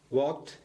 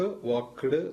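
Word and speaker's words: walked: ആവട്ടെ അതൊന്നും നമുക്ക് വലിയ വിഷയമുള്ള കാര്യമില്ല അപ്പൊ വാക്ക് വാക്ഡ് വാക്ഡ് എങ്ങനെയാണ് അത് നമ്മൾ പറയുക കറക്റ്റ് അല്ലേ വാക്ക് വാക്കിഡ് വാക്കിഡ് കിഡ് കിഡ് എന്ന് പറയാൻ പാടില്ല അത് നല്ല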